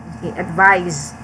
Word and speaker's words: advise: be confused okay so the verb has the pronunciation of letter z advise normally for for other